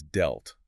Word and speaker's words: dealt: The past tense is dealt. It rhymes with felt.